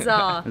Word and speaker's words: Czar: Zoe and Czar. Zoe and Czar. Czar is spelled C-Z-A-R, silent C.